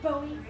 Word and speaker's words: Bowie: My sister said the city we're moving to is called Bowie, but it spelled like Bowie, like David Bowie. But it's pronounced Bowie.